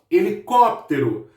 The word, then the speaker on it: helicóptero: Helicóptero. Helicóptero. Então, o có acaba sendo a minha sílaba mais forte.